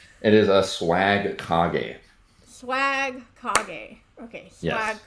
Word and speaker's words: Swagkage: It is I, Zarkon, aka Fifth Rate Duelist, here for the Becoming a First Rate Duelist podcast featuring Swag Kage.